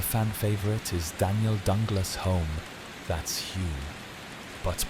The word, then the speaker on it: Home: Another fan favorite is Daniel Dunglas home. That's Hume, but pronounced Hume because Victorians love being confusing.